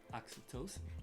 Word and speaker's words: oxytocin: What's the correct way to pronounce it? oxytocin.